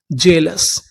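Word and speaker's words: jealous: यहां पर जो ए है वो साइलेंट रहेगा। ए का उच्चारण नहीं करना। एल ओ यू एस लस जेलस।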